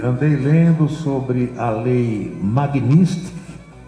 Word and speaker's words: Magnitsky: Então tem gente pronunciando Magnitsky, que é KY no final. Não é. É Magnitsky, KI no final.